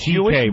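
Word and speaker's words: C.K.: CK is just the first two letters of your whole last name. It's pronounced CK, but it's spelled much longer.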